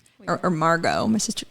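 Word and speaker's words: Margaux: right Megan right or Margot my sister my cousin's name is Margo m-a-r-g-a-u-x okay I don't know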